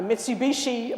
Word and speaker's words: Mitsubishi: We were towing our first camper with a Mitsubishi, I said it right this time, a Mitsubishi Montero.